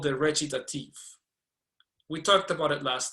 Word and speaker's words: recitative: Isn't it pronounced recitative? Recitative. It's Italian. C-I. It's pronounced "cha."